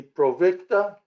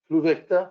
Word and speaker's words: Pluvicto: And I'm Jim, starting the Provicta. Is that how you say it? Pluvicta?